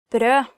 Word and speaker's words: brød: Brød, bread. Brød, bread. Kneippbrød veldig vanlig I Norge. Kneip bread is very common in Norway. Actually, if you mistake the pronunciation of brød and say blø, it means bleed, so be careful.